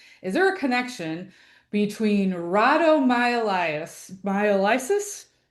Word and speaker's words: rhabdomyolysis: going to do my best at trying to pronounce this. Is there a connection between rhabdomyolysis? Rhabdomyolysis. Rhabdomyolysis, thank you so much.